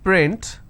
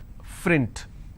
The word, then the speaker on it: print: For example, if I have the word which is print, lot of people pronounce this as frint.